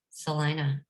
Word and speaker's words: Salina: First of all, Keith is a native Kansan, and I'm gonna mispronounce this, but I think he's Salina. Salina.